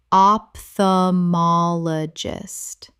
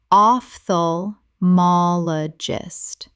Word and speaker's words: ophthalmologist: Common mispronunciation, opthamologist. Correct pronunciation, ophthalmologist. The O P H makes an F sound. Five syllables.